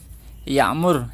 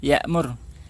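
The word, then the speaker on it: يعمر: Ini memang yang agak sulit bagi orang Indonesia mengucapkan ain ya. Alim, alim, ya'mur, ya'mur, ja'a, ja'a.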